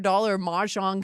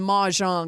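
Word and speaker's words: mahjong: People, the person I was talking to invested in like a $500 majong set.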